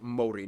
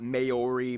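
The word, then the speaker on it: Māori: yes by the way it's pronounced mori not maori maori they use the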